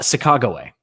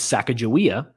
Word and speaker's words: Sacagawea: podcast and i listened to one about uh chicago way now you don't laugh you might know her and many people do know her as sacagawea but jimmy did you know that her name